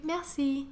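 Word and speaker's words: merci: it would be really nice if you learnt mousy this is how you say thank you Massey Massey Massey Siebel play is pleased you can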